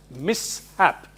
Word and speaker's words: mishap: It should be pronounced mishap. Mishap, not mishap. Now, any other spelling with SH, suppose Vishala, Kaushik. Unless somebody tells us that you have to split that and say it as mishap, we pronounce it as Shah only.